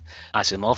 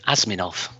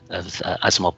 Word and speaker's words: Asimov: In particular, Asimov, I remember going to a public library and picking a book off the shelf. And I was so young that I mispronounced the name Asminov at the time.